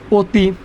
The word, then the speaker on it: অতি: যেমনি আমরা রস্যিকার, দীর্ঘিকার, রস্যুকার, দীর্ঘকার, রিকার, রফলা, জফলা, ক্ষীয়, এই বর্ণগুলো যদি থাকে এই অয়ের পরের বর্ণে, তাহলে এই অটা কী হয়ে যাবে? ও হয়ে যাবে। তাহলে উচ্চারণ হবে অতি।